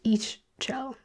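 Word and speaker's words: Ixchel: The next person we have here, Ishel, it's pronounced Ishchell. Ishtell is Mayan.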